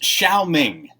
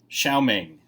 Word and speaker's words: Xiao Ming: go over together yeah I think this would be actually pronounced Xiao Ming Xiao Ming but you'd say X if you want three